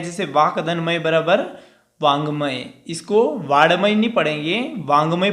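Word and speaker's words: वाङ्मय: बच्चे है ना यहाँ पे बहुत ही मिस्टेक कर देते हैं कि इसको ड पढ़ते हैं, ये ड नहीं होता, ये अंग होता है। तो वांगमय इसका उच्चारण होता है।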